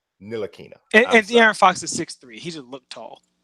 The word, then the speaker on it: Ntilikina: No, it's Nilakina.